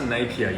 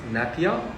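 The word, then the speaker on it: Napier: napia napia napia nap napia you say it's pronounced napia you can't actually pronounce it wrong cuz I actually get really upset about that everyone is pronounced napia but sorry spell napia pronounced napia I said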